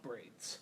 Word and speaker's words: Breeds: I am MC Fixer, and I am sitting down with Rebecca Breeds. I said it right again, didn't I? You did. Right, because it's like the bird.